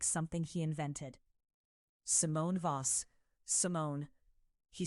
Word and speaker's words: Simone: Both syllables even, no accent on either, as though my name is a fact he is simply confirming, not performing.